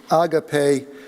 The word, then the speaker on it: Agape: of the board initially the correct uh uh pronounciation is agape which is a Greek word meaning love embracement mutual respect and